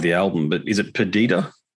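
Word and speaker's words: Perdida: I want to just talk about, and apologies if I mispronounce the name of the album, but is it Perdita? Perdita, yes.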